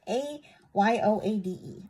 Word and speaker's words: Ayoade: I cannot pronounce his name. It's Ayoade.